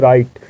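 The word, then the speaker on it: write: तो वहाँ W silent होता है, डब्ल्यू का उच्चारण नहीं किया जाता है। आइए एग्जाम्पल देखते हैं। राइट, ये बहुत ही ज़्यादा कॉमनली यूज़ किया जाता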